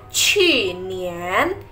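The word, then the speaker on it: 去年: Tapi kalau misal tahun kemarin kita bacanya qu nian.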